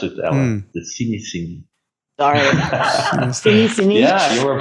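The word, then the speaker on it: Cinéscénie: They have a show that is already running for 48 years, which is the Cinesceni. That's how we pronounce it, Ellen. The Cinesceni.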